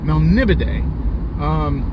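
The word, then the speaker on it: Melniboné: That's how I learned to pronounce that from the book, Melnibone.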